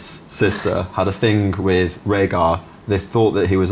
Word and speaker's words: Rhaegar: Yeah, who she pronounces Rhaegar or something. Rhaegar, yeah.